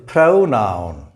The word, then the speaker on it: pronoun: This is pronoun. The O here, P-R-O, here we also get the same three letters, P-R-O. But in pronoun, the O represents an A sound, the schwa sound. And here it represents a compound vowel sound, O. Pronoun, pronoun. The stress is on the first syllable.